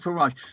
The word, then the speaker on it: Farage: Am I pronouncing Farage. Nigel Farage.